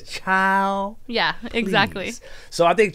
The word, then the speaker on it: Chiiild: spell it c-h-i-i-i-l-d mm-hmm you're supposed to put like um some emphasis on it yeah yeah like child i think that's what it is child yeah exactly so i